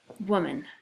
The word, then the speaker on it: woman: M a n woman why do you suppose this is a red word if we were going to tap this out we'd probably say oh it's two syllables we'd probably go like mm-hmm mom and Lahman but that's not a word okay so it's a woman so it's a red word because this o is not long it doesn't say Oh